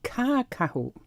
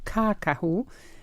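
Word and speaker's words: kākahu: this cloak this Maori cloak how do you pronounce that darling well Roger it's it's called it caca who so as you can hear the e is a long one the first one caca who but commonly it's known as Cora why so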